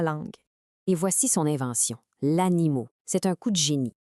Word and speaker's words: animot: L'animau, c'est un coup de génie. Quand on le prononce, on entend animaux au pluriel.